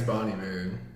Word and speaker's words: Bon Iver: Can you look up how to pronounce his name? It's Bon Iver.